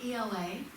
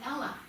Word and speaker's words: Ela: So, my name is Ela, spelled E-L-A, and a lot of people pronounce it Ella. It's Ela, and it's a story behind that. And so I went through a phase that I thought, I'm tired of correcting people that it's Ela, not Ella.